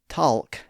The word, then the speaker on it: talk: So we don't say talk and walk. We simply say talk and walk. The vowel sound has become more of a sound or an a sound depending on your accent. But the L sound after it has disappeared.